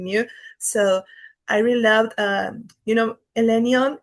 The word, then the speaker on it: Elenion: So I really loved, Elenion. And it's like, I'm pronouncing it like the Tolkien way.